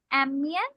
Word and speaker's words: aiment: avec mes enfants parce qu'elles aiment bien. M, we do not pronounce ENT.